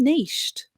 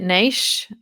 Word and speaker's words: niche: would be, have you niched? And then specializing in something with that niche or niche, depending if you're in the US, that's how they say it.